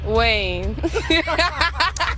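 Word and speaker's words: Kaine: Rhymes with Bane. Tim Wayne.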